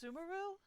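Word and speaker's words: Sumeru: would be easiest for you to go to Sumaru. Sumaru. We've run into loads of scholars from there on our journey so far. It's pronounced Sumaru.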